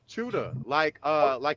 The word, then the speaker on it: Chuda: You pronounce it Tichuda? Tichuda? How do you pronounce the name? Chuda, like you chew. Okay. Like chew, or you chose, you choose. Chuda.